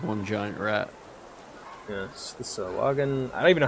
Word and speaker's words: Sahagin: Yes, the Sawagan. I don't even know how to pronounce it. How to pronounce Sawagan? There we go. Rat. Sahagin.